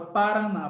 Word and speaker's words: Paraná: você pega a palavra Paraná por exemplo Vamos separar as sílabas pa para na qual a sílaba forte de Paraná é a última essa aqui é o